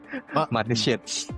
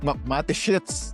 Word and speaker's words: Mateschitz: Nung namatay si Detrick, ang hirap bigkasin ng pangalan. Mateschitz. Mateschitz. Alam nyo na, madali lang yan. Alam nyo, tandaan nyo na siya, shits.